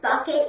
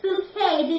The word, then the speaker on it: Bucket: Bucket," and she says, "No, it's Bouquet," because she doesn't like to be pronounced Bucket, don't you?